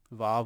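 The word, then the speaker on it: ו: a habit there yeah Bob or wow if you pronounce it that way either one is fine Zion Zion it's a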